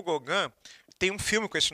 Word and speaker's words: Gauguin: Aí a gente parte para o nosso penúltimo artista, que é um cara chamado Paul, se escreve Gauguin, mas se lê Gauguin, certo? Paul Gauguin.